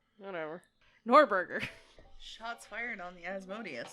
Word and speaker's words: Norgorber: I pronounce it Norgorber. Whatever. Norberger.